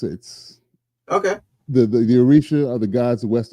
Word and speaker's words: Orisha: So Nubian Chronicles brings us into an alternative realm ruled by Osha, right? Am I saying it right? Orisha, Orisha.